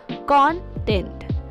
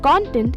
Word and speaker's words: content: item in your suitcase when used as a noun the stress is on the first syllable content for example the contents